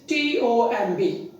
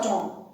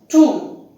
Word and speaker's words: tomb: The fourth word is tomb. How is it pronounced? You will look at the word and you will look at the letter O and B, and you may pronounce it as Tom, Tom, Tom or Tom. Such pronunciations are seen, but the correct pronunciation is Tom. It is Tom, not Tom.